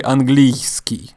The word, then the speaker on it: английский: So when you say английский, I don't say английский. So that's how it's spelled, with a y. And then ski. Английский. I say английский. So y is not really pronounced.